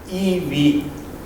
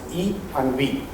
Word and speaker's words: EiV: Let me introduce our platform, which is pronounced EV. EI is pronounced E and V.